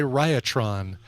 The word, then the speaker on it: Riotron: By the way, back announced, that was Dark Highway by Riotron. Go check them out. RIOT, just like you would spell it. RIOTRON. There you go.